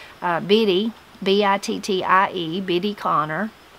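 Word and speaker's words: Bittie: Biddy, B-I-T-T-I-E, Biddy Connor.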